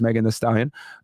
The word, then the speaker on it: Megan Thee Stallion: Now, born 1995, known as Megan Thee Stallion, pronounced Megan Thee Stallion, is an American rapper originally from Houston, Texas.